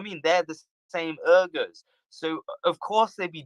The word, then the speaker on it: Uyghurs: Uyghurs. Yes, yeah. I'm sorry if I'm mispronouncing it. Yeah. No, you're not mispronouncing it. It's just a language difference.